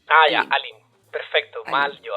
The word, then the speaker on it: Aline: Mi nombre se pronuncia Aline. Lo digo ¿Aline? solo porque nunca lo corrijo. Nunca lo corrijo y la gente me termina diciendo Aileen, así que Aline.